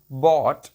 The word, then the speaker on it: bought: बॉट, BOUGHT, बॉट। इसमें जो GH है ये साइलेंट है।